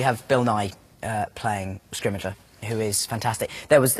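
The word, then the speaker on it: Scrimgeour: this film we have bill nye uh playing scrimmager who is fantastic there was we have kind of eventually reached consensus on how to say his name and we're going with scrimmager i think that's how we've ended up saying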